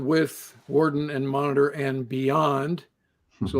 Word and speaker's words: Worden: I keep saying Warden. It's actually Warden is the way correct pronunciation, I'm told.